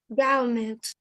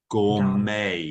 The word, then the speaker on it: gourmet: Gourmet. Gourmet. Yep. So remember this last word, this last bit of the word me is not pronounced met. It's pronounced may gourmet.